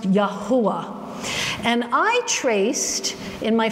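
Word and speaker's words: יהוה: call it Yahweh or Jehovah. No such thing in Hebrew. Okay, Yahweh is German. Jehovah doesn't even have any Hebrew relevance. There's no J in the Hebrew language. So his name is pronounced Yahuwah.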